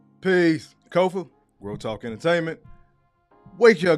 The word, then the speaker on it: Kofa: I am your humble host, Kofa, K-O-F-A, not coffee, not Kufu, not Kofi, or any variation thereof. My name is my name. Kofa rhymes with sofa.